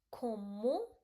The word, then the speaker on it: comment: We ask, so it will be like comment c o m m e n t because t you don't have to pronounce. It become comment ça va.